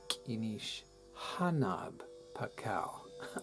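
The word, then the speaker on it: K'inich Janaab Pakal: his name is pronounced Kinish Hanaab Pakal. I've been fooled by the J for so many years.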